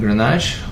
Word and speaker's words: Grenache: Let's start with Grenache or Garnacha. It's the same grape, different pronunciation. Garnacha is pronounced in Spain, and Grenache is in France.